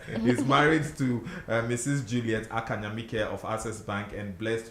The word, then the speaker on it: Ackah Nyamike: The name is pronounced Ackah Nyamike. Ackah Nyamike. Ackah Nyamike. Okay. A lot of the times people try to mention it as Nyamiche.